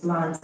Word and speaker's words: plant: So, the correct answer is plant. Is plant has a long sound.